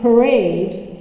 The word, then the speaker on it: parade: set up all of the conditions so in parade p is an P occurs in a in an unstressed syllable How do I know that because I